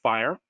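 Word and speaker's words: FHIR: information systems industry called it's it's pronounced fire and you know so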